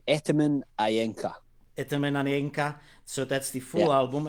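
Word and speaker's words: Etemen Ænka: do you pronounce it in edinburgh we say ataman ayenka so that's the full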